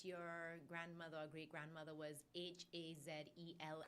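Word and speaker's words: Hazell: Is that the same thing with one of your, I read that your grandmother or great-grandmother was H-A-Z-E-L-L. Correct. Is that correct? Hazel. But with 2 L's.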